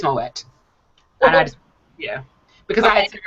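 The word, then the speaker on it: Moët: because I was like Am I Wrong is it Moe or is it moette it is moette and yeah because I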